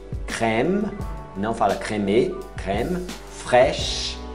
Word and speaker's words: fraîche: Fraîche, crème, não fala crème, crème, fraîche, para no CH, não pronuncia o E, fraîche.